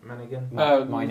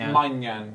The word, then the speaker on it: Maignan: I can't pronounce the name, the keeper from AC Milan, Manigan? Maignan, yeah.